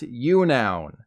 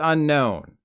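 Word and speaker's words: Unown: this Pokemon was called I kid you not you noun yeah yeah laugh it up it's not my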